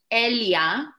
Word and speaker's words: Elia: It's Elia, spelled without an H, like Elia without an H.